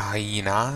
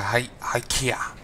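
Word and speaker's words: Hyekka: It's not a hyena. It's a hykea. There's a K in there, but honestly, I'm just going to keep going with a hyena.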